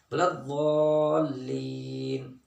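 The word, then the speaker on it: الضَّالِّين: والے دانت ان کے ساتھ لگائیں گے، اصل تلفظ اس کا نکلے گا بلضالین، ٹھیک ہے جی۔ تو اس لیے عام طور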